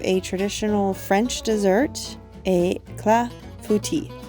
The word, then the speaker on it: clafoutis: traditional French dessert a CLA futi I have to sometimes break it up into the syllables clafouti um again I apologize